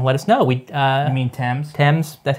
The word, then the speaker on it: Thames: more cases left in this, including the titular Thames murder case. You know, let us know. You mean Thames?